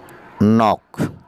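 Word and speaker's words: knock: নক, ঢাক, নক, ধাক্কা, এখানে কের উচ্চারণ নেই।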